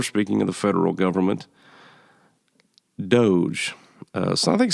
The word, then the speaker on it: DOGE: Number 4, speaking of the federal government, Doge. So I think some people want to pronounce this Dodge. I'm not really sure why. That was a truck.